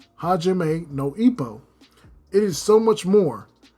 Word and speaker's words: Hajime no: But in Hajima No, I almost mispronounced the name. Hajime no, it is so much more.